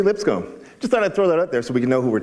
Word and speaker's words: Lipscombe: this really neat is my name doesn't have a silent s it's actually Lipscomb just thought I'd throw